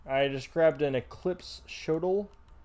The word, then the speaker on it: shotel: I just grabbed an eclipse shotel. Shotel? How do you say that? I always thought it was Shodel. Shotel.